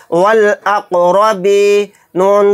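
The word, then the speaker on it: وَالْأَقْرَبِينَ: तो देखिए यहाँ पर भी अलिफ को साइलेंट कर देंगे, सिर्फ लाम को पढ़ेंगे, क्योंकि अलिफ लाम के बाद क्या आ गया, हमज़ा, और हमज़ा भी हुरूफ क़मरी के 14 हरूफ में से एक हर्फ है।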